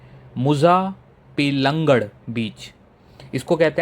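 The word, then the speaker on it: Muzhappilangad: डे टू को मैं थोड़ा जल्दी समराइज़ करूंगा क्योंकि डे टू जो है यह है मुजा पेंगड़ बीच।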